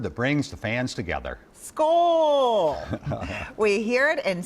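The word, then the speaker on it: skål: teaches Swedish at the American Swedish Institute Kohl school scores mm-hmm that's how it's pronounced how do you spell that ska with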